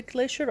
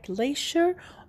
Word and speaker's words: glacier: Do you remember the word the glacier? I told you that we can pronounce it in 2 ways. Both of them correct, but the difference is that one is British, one is American.